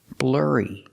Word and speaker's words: blurry: the image is blurry pronunciation use the r sound like Burger R blurry like hurry the image is not